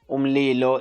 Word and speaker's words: umlilo: So yeah, how you pronounce it is umlilo.